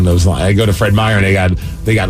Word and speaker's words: Fred Meyer: Fred Meyer or Fred Myers.